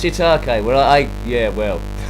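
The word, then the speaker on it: shiitake: to uh Oleg scam it's pronounced shitake well I yeah well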